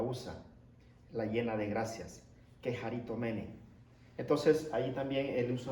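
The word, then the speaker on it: κεχαριτωμένη: Esa palabra, llena de gracias, en griego se pronuncia keharitomene.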